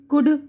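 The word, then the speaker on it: could: गुरोह इंसानी, टॉक गुफ्तगू, शुड चाहिए, वुड जाएगा, कुड सकना। तो इसमें देखिए सब में एल की आवाज़ जो है खामोश है यानी साइलेंट है।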